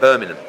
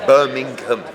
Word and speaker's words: Birmingham: But who would go Birmingham? Birmingham. Yeah. It's no, but you're missing a G. It's not a silent. It's not like you're saying knock it. Yeah, but it's a silent G in Essex.